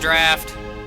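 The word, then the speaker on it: draught: It is the draft of Lemuria that allowed me to live for so long. Yes, I know it's pronounced draft.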